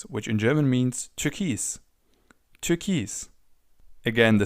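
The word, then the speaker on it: Türkis: Turkis. Again, the spelling and the pronunciation differ slightly, but it's almost the same word.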